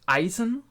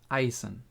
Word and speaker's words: Eisen: something along those lines then we do have Eisen who is also pronounced uh correctly in most of the cases because it's a pretty easy name um Isen means iron again Eisen then we have the master of or the